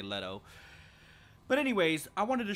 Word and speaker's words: Leto: letõs or Leto's amulet I'm not entirely sure what the proper pronunciation is on that I believe it's Ledo but who knows I always say letto but anyways I wanted